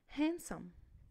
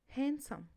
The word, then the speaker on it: handsome: don't pronounce the letter D if it comes after the letters N.